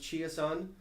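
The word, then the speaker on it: Chiasson: was 100 that Line's great they've got uh chias on they're calling them I always thought it was Chase someone but apparently it's actually pronounced chia-san Alex chiason he's really fitting in well and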